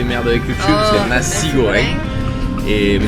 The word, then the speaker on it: nasi goreng: à manger un petit nasi goreng. Nasi, on va dire nasi, hein, pour éviter les merdes avec le cul, c'est nasi goreng. Mais ça se prononce comme le mot qu'on doit pas dire.